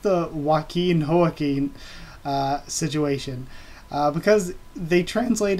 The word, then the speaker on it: Joaquin: It's just that, of course, the J in Spanish makes an H sound, obviously, so that's why